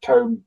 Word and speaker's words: tom: Town, pronounced town, not Tom. Town.